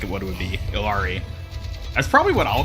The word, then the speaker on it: Illari: control Point maps are you've seen some people pronounce it like Hillary like Hillary I guess that